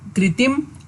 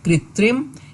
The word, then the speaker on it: कृत्रिम: cream उत्तीम कृत्रिम हैं तो कई बार हम कृतिम और कृत्रिम बोलने में गड़बड़ी कर जाते हैं और सही उच्चारण है कृत्रिम यही बिल्कुल सही शुभ